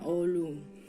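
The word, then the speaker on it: oğlum: anak laki-laki panggilannya Ulum tulisannya itu oh GR Um tapi g-nya karena yang ada ukirannya itu jadi dia G yumusak jadi kayak enggak hampir enggak terbaca jadi bacanya olum terus untuk saudara Kalau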